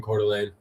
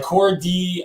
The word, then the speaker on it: Coeur d'Alene: and uncle live in coeur d'alene yeah that's cool i thought y'all knew how to pronounce that most people are like core d uh that's how i